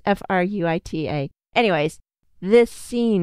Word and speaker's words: Fruita: I thought it was Fruita. I think I wanted to pronounce it like you would in Japanese. Not that I speak Japanese either. And the lady was like, it's Fruita. And I was like, oh,